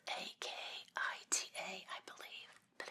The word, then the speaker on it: Akita: It's pronounced with an E. It's spelled A-K-I-T-A, I believe, but it's pronounced Akita.